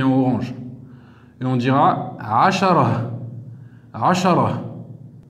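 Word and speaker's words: عشرة: On écrira asharatun, mais on s'arrêtera, on dira ashara. Parce que rappelez-vous, on avait vu dans les cours précédents, lorsqu'on termine sur un tamarbouta, on le prononce comme si c'était la lettre H à la fin.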